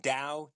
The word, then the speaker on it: Tao: like a d like like think of it Dao it's pronounced Dao de ching or Dow of the day yeah